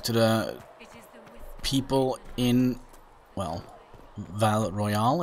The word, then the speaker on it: Val Royeaux: We have to go and talk to the people in, well, Val Royale, is that how you say it?